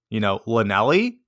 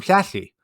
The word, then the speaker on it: Llanelli: So when I first heard this name, I try to pronounce it, Lanelli, and she just looks at me like, oh my goodness, these Yanks are horrible. Well, it took me most of a school year to learn how to say the double L. And eventually I could say to her, oh yeah, you're from Flashy.